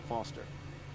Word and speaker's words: Foster: pickle so does I'm Foster I'll remember that easy because your name rhymes with fossil and you're old thanks